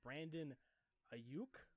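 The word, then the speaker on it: Brandon Aiyuk: with another wide receiver I have them selecting Brandon a uke Arizona State that's how you say his name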